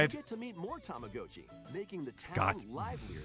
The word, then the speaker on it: Tamagotchi: It's always it's gotchi. Yeah, okay. Tamagotchi. Yes. Gotchi. There's no way you can call it Gochi.